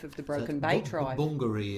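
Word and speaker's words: Bungaree: Bungary is the Yes. It's Bongari. Yeah. That's how the family pron we all pronounce it. Bongari.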